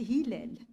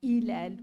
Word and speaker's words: Hilel: prénom du héros c'est Hilel il est si si un étranger le prononce il va le prononcer autrement ilel ou mais hil c'est autre chose c'est le la Lune